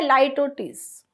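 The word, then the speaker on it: litotes: इसका प्रोनाउंसिएशन है लाइटोटीस।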